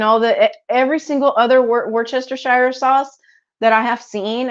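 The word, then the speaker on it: Worcestershire: you don't know how to pronounce it it's pronounced Worchester Shire okay so there you go I just solved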